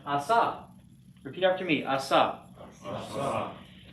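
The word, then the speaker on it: עָשָׂה: So silent, and then on the end. So this is, and the accent's on the last syllable, excuse me. So this is pronounced asa.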